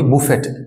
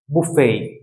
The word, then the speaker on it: buffet: Number 3, এটা কিন্তু আমরা বলি বুফেট, like BUFFET, বুফেট, বুফেট। তো আমরা এটাকে বুফেট বলবো না, বুফেট রং, এটার উচ্চারণ হচ্ছে বুফে, just বুফে, বুফে, নট বুফেট, বুফে, right.